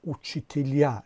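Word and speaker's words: учителя: است، علامت جدایی آخرش پرتافته شده است و تلفظش هم تغییر کرده است. مثلا اوچیتیلیا شکل جمعش میشد، شکل تنهایش اوچیتیل، اما شکل جمعش اوچیتیلیا، یعنی زده در هیجای آخر افتاده است.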